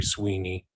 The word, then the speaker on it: Swiney: And he wrote it with Sherry Sweeney. Her last name is spelled Swiney.